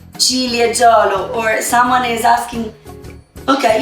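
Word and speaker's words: Ciliegiolo: We made 20% of cherry grape, the Cilieggiolo. Repeat with me, Cilieggiolo. Right. Julia, is it correct? Everybody's saying it right? Cilieggiolo.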